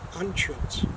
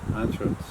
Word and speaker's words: Anschuetz: But the American way is UE. But how do you pronounce that? Anschuetz. Anschuetz.